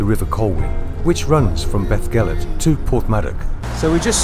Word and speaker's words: Beddgelert: And we're at, what's it called, Beddgelert. That's how you pronounce it.